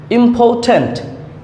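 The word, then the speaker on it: important: এর উচ্চারণ হবে না যখন আর এর আগে ভাওয়েল থাকে তখন আর এর উচ্চারণ হয় না ইম্পর্টেন্ট ইম্পর্টেন্ট যার অর্থ হচ্ছে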